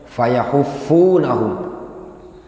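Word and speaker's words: فيحفونهم: fayahuffunahum bi fathit tahtiyah, dengan menfathah at-tahtiyah. At-tahtiyah itu ya yang ada titik di bawah, itu namanya tahtiyah. Wa dhammil ha, dan mendhamma ha, ha di dhammah. Wa tasydidil fa, dan mentasydid fa-nya. Jadi bacanya fayahuffunahum minal haf, diambil dari al-haf.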